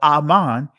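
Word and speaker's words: אָמַן: what his name mean so Aman right transliterates to amen but Aman is the proper pronunciation as you see here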